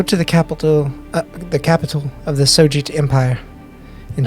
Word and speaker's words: Sojit: Are you saying SOJEET, like Sojit? Yeah. S-O-J-I-T.